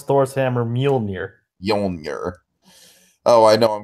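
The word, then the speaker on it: Mjölnir: Yeah, that's how you pronounce Thor's hammer, Mjolnir.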